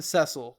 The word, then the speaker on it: Cecil: I don't know why I keep calling him Cecile. I don't know. Most people pronounce the name Cecil, but I don't know. My brain just says Ceil.